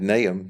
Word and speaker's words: Nahum: so we it's his name n-a-y-h-m would be the pronunciation so that's what we're